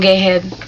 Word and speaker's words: Geheb: But in Germany, or in German, it's Geheb, but I like my maiden name, even though people always get it wrong. Geheb, because it's spelled G-E-H-E-B. So people are like, Geheb? Geheb? No. Gehebi?